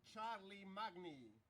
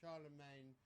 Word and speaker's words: Charlemagne: Shar of Charlie Magny. I'm sorry. Charlemagne, that's how you pronounce it.